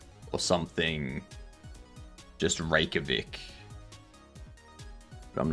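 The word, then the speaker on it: Reykjavík: Just rakavic. But I'm not sure it's in Iceland. I know it's in Iceland. Um, so like the the J is a soft like the the J is silent basically.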